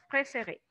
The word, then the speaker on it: préférer: Par exemple, la conjugación du verbo préférer. Je préfère pour la première personne. Vean que en el infinitivo este verbo tiene dos acentos agudos porque la pronunciamos hasta la última, ¿verdad? La terminación del infinitivo.